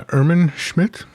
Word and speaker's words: Irmin Schmidt: to speak to uh ehrman schmidt um that's not the german pronunciation but it's as close as i'm going to get to it um it's perfect oh